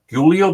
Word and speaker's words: Giulio: I'm going to try to get all the pronunciations. Alessia Tondo, Giulio. Did I get that right? Correct. Giulio, okay.